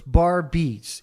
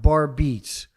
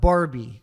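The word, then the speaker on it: Barbeetz: And I tried to explain to their attorneys who never got back to me that it's two separate words. Barb beats. And that's how it's pronounced. Barb beats. It's not Barbie.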